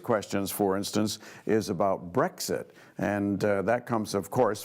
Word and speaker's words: Brexit: So the first one was, what is Brexit, not breakfast, but what is Brexit going to do with the rest of the world? And I'm still failing to pronounce it correctly. It's Brexit.